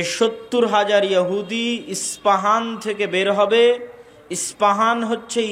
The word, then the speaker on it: ইস্পাহান: প উচ্চারণ করি ইসপাহান আরবিতে এটা উচ্চারণ হয় না আরবিতে হয় আল আসবাহানী বা উচ্চারণ হয় ইসবাহান বা আসবাহান সেখান থেকে 70 হাজার ইহুদি দাজ্জালের সঙ্গী সাথী হবে এবং মুসলমানদের বিরুদ্ধে যুদ্ধ করবে।